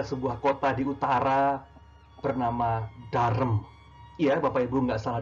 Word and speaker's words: Durham: kota di utara bernama dharm Iya Bapak Ibu nggak salah dengar Hai walaupun tulis adeu rhm namun bacanya Darren Saya pernah salah dengan